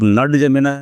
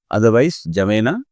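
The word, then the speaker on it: N'Djamena: पर स्पेलिंग इसके एनडी आगे जमेना है, इसको आप नड जमेना भी कह सकते हो याद रखने के लिए, अदरवाइज जमेना।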